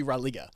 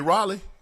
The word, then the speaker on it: Raleigh: You mean Raleigh? Raleigh. Oh, okay. Close enough. That's how you say it? How you say it again? Raleigh. You for real? Yeah. But it's spelled R-A-L-E-I-G-H. Raleigh. That's Raleigh. Close enough.